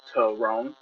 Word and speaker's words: Terone: My name is Terone, pronounced Terone.